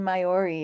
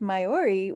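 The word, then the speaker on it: Maiori: to several towns but we actually stayed in mayori it's spelled m AI o r i and the reason we picked mayori was that it's a very flat walkable Town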